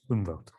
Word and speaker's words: Umwelt: I'm going to embarrass myself with my German pronunciation, but the Innenwelt and the Umwelt, is that close enough? Umwelt.